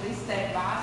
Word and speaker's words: Kristeva: Daí essa imagem, muito usada por Kristeva, ou Kristeva, se vocês preferirem a pronúncia francesa, apesar dela ser húngara, e essa imagem do palimpsesto.